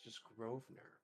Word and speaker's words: Grosvenor: Why is there an S in there if it's just Grosvenor? Why is the S is silent?